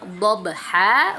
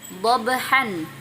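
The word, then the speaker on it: ضَبْحًا: Bacanya dhabha bukan dhabhan, seperti itu ya Bu ya.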